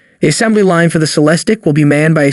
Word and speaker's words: Celestiq: As a result, Celestiq, pronounced Celestiq, manufacturing will be restricted.